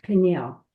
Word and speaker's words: Peniel: So Jacob named the place, how do you pronounce this, Rabbi? Peniel? Peniel, meaning I have seen a divine being face to face, yet my life has been preserved.